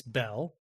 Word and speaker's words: Beall: other plots John Yates Bell now it's spelled be b a l l but pronounced Bell for some reason John Yates Bell was born on January